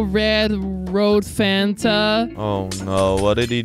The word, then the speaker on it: Fanta: It's not Finta, it's Fanta.